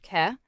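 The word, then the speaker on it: 계: KAI, pronounced Ke, is a rotating community savings system that dates back to 16th century Korean farming villages.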